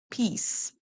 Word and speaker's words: piece: a lot of words you would actually hear the C makes a song like s so you would hear s s s the e at the end now is silent if we are to put this word together we have e e peace so we only have three songs we hear we hear the ion e say e and also we hear the C make the sound like like a s piece this piece we said